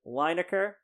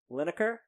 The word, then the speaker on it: Lineker: My honorable mention, I believe I pronounced it Lineker. It's Lineker. So to Gary and his dirty draws.